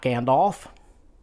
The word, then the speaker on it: Gandalf: is not smog it's Smaug and it's not Gandalf scandalf did you catch the difference uh apparently